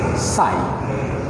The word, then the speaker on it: psi: er kedeba E psi is equal to H psi. This is pronounced as psi.